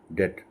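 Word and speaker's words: debt: प्स lung term Depp डीबीटी में B silent है डेट lung term डेट डे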